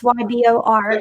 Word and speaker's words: Ybor: went down to and i'm gonna maybe say it wrong ebor city yeah it's ybor and um a lot